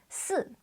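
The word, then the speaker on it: 四: Chinese is pronounced as Su and this is exactly the same pronunciation as the word only the tones are different and means die in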